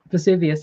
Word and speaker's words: Vesuvius: Or how do you pronounce that? Vesuvius, yeah.